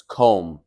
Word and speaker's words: comb: comb notice that comb we don't pronounce the b so it's comb we don't say comb